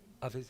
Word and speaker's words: Hafiz: Hafiz, yeah.